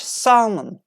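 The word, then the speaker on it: salmon: should fork or York the fish Salman has no L coming from the friend Salman the English word took the L from the origin Latin bersama like it's just to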